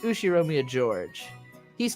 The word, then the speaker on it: George: is one of my cousins his name is pronounced USI Romeo George he's 5 years older than me so he's